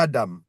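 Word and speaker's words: אדם: Après, euh, on passe à Adam.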